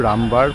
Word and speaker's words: Ramabhar: আর এই যে এইটাই হলো রামবার পন্ড, মানে যে পুকুরটা যে আছে, এটাকে বলা হয়, মানে এটার নাম হলো রামবার, মানে রামাবার ওরকমও বলা হয়। একজনের উচ্চারণ এক এক রকম হবে।